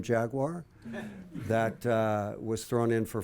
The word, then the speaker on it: Jaguar: to pronounce the name Jaguar that was thrown in for free. I choose to make it a 2-syllable word as opposed to a 3-syllable word.